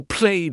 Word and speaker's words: played: For played, it is like a d sound.